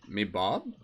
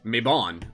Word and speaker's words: Mabon: also May is it how do you pronounce it maybe me Bob no there's like it's like the actual like pagan holiday on the equinox I know what it is Mabon a B and O a B Oh n is what